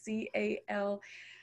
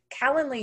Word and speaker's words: Calendly: I can't say it right, so I'm going to spell it for you guys. C-A-L-E-N-D-L-Y.